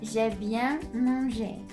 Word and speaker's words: j'ai bien mangé: And the way you pronounce that is j'ai bien mangé.